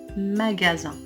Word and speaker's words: magasin: Alors ici, on doit prononcer la lettre S, Z, parce qu'il est placé entre deux voyelles, A et I.